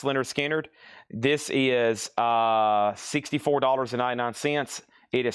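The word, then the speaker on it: Lynyrd Skynyrd: We have Leonard Skinner, pronounced Leonard Skinner.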